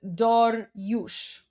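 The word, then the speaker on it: Dariush: And um Darius is pronounced Dorush.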